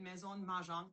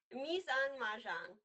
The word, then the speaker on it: Mise en Mahjong: Me on Mahjong. Me on Mahjong. It's kind of like Me on plus for the kitchen, right?